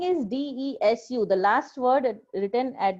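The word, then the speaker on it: です: plus noun 2 plus des. So the spelling is desu. The last word written at the end of the sentence is desu, but it is pronounced as des. U is silent.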